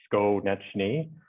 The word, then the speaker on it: Skonieczny: Phonetically, that's Skonieczny, just for clarification for you there, Jim.